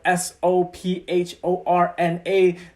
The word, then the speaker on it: Sophorna: My name is spelled Sophorna. The PH in my name is pronounced more like a P than an F sound.